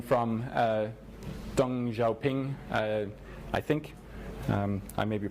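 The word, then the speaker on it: 邓小平: in that community and another Chinese saying from dong Zhou ping I think I may be pronounced in no time across the river by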